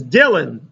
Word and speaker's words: Dylan: That was the main I remember when I was a kid, Bob Dylan. No one knew how to pronounce his name. Bob Dylan? Dylan? Bob Mylanta? You know. I said it's Dylan.